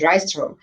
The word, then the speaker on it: Rystrom: singer, and songwriter, Rystrom. Hi. Have I Huh? pronounced your last name right? Yes, Rystrom. You got it.